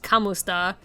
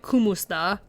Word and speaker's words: kumusta: Like, it looks like it's pronounced kamusta, and I was pronouncing it kumusta.